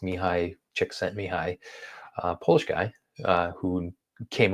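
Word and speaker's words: Csikszentmihalyi: who no one can spell it but it's pronounced mihi chick sent mihi polish guy uh who came up with a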